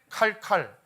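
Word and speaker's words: Qarqar: 지도를 보겠습니다만 유프라테스강 상부에 카르 카르라 하는 지역이 있습니다 카르카르 자 빨리 하면 어떻게 발음하면 돼요 칼칼 실제 칼칼이라고 해요 칼과 칼이 만나면 전쟁이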